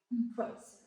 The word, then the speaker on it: impressive: And the last one for the first sentences is impressive. Impressive. So you must stress more in the second syllables. There is three syllables. Impress. The first not stress or unstress, and then stress and then unstress.